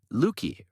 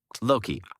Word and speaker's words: Loki: the trickster God uh luki or how you say his name uh Loki I'm sorry Loki the tree of knowledge